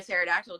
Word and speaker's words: pterodactyl: can't you hear a pterodactyl go to the bathroom why because the p is silent yes yeah um what